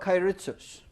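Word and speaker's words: keiretsu: The Japanese used what are called kairitsus. My pronunciation may be off, but basically a kairitsu is a collection of companies bound together by cross-holdings, say 50 companies.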